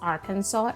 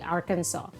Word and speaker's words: Arkansas: and tip it is called AR it is pronounced as Arkansas not Aransas okay Arkansas so here you can see that they have